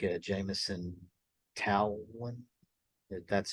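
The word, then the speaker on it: Taillon: I still want like someone like a Jameson towel one that's how you pronounce it I feel like we could get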